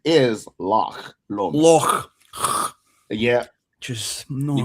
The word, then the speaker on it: Loch Lomond: So Like we the thought pronunciation is Loch Lomond.